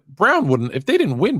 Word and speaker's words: Braun: It's spelled Braun, but it's Brown.